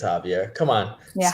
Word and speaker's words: Javier: I think it's Javier. Come on. Yeah, Spanish Javier, is all about the silent letters.